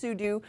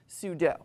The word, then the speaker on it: sudo: it sudo and in fact it is officially pronounced sudu but Wikipedia notes that it is commonly also pronounced sudo and in fact there is a raging debate